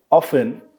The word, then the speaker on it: often: Like if someone know that um any example, we can get any example like often uh so, there the T is a silent.